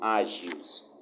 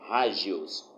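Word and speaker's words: ἅγιος: O adjetivo grego hagios, algumas pessoas pronunciam agios, mas no grego o H tem som de R e o G tem som de G, então é hagios.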